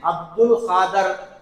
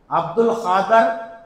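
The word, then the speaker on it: अब्दुल क़ादिर: अब्दुल कादर। यह अब्दुल कादर बोलना गलत है। अब्दुल कादिर ये गलत है।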